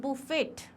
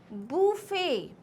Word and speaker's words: buffet: It is not buffet. It's not buffet. Please understand, आप buffet खाने नहीं जा रहे हो. It is buffet.